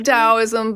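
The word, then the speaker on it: Taoism: perceive it sounds like T did you say taism tao yeah yeah it's pronounced taism but it it does yeah t yeah so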